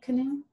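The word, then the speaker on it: Canoo: if no is the name of the company canoe yeah it's kind of how do you spell it let me find it c-a-n-o-o canoe yeah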